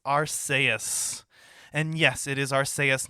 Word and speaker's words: Arceus: anime or anywhere else go back to the original japanese the name is aru so suck it it's supposed to be pronounced arseous anywho uh this is